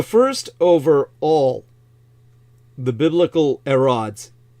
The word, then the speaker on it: Herod: or something Herod um the Greeks never pronounce the h the H is always silent like you'd say Hercules